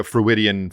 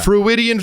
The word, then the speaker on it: Freudian: Freudian, like Sigmund fucking Freud. I know Sigmund Freud, That's where it comes from.